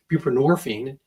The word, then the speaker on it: buprenorphine: they get the suboxone which is buprenorphine rhymes with morphine and it's basically a